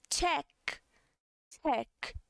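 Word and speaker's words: 책: Livro em coreano é check, check, tá? Com o sonzinho mais aberto.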